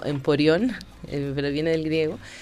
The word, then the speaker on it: emporio: Emporio es una palabra que viene del griego, que significa, o sea, originalmente se debería pronunciar algo así como emporión, pero viene del griego,